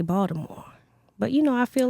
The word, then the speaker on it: Baltimore: Well, some people pronounce the T. Jamal Bryant pronounced the T, but some people say Baltimore.